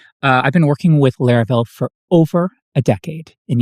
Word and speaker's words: Laravel: Uh, in fact, when people heard the word, they called it Laravel, not Laravel. And actually, some people still do today, but trust me, the correct pronunciation is Laravel.